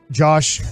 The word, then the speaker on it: Yosh: Yosh. Starts with a Y.